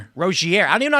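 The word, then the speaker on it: Rozier: Johny Bilips, how do you pronounce this? Terry Rossier. Terry Roier. Roier.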